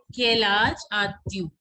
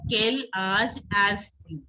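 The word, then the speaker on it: Quel âge as-tu: See, Kailaj Atyu. See, if I would have written it first, you would have pronounced it as Kailaj Astyu.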